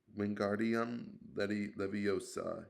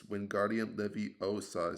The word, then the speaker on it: Wingardium Leviosa: Wingardium Leviosa, he shouted, waving his long arms like a windmill. You're saying it wrong. Harry heard Hermione snap. It's Wingardium Leviosa, said the guard since along.